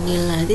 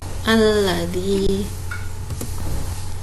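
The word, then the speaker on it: الذي: Nun kecil di bawah ayat namanya nun iwad. Nun iwad di awal ayat tidak dibaca. Jadi bacanya bukan nilladzi tapi alladzi.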